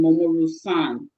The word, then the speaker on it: Momoru-san: Momoru, Anderson, remember, called him Momoru-san. Not son is an English word, but san being some kind of indigenous word.